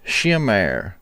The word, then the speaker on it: Sumer: symbol is also in Sumer pronounced shumer much like the word shimmer meaning to glow like they